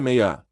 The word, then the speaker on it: Mia: não era uma Elfa meu nome é meia disse ela e de repente entendi como o nome Mia deveria ser pronunciado era um nome